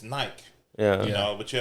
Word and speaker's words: Nike: Nike, you have to say the E at the end. It's Nike. Yeah. You know, but you have to say Nike.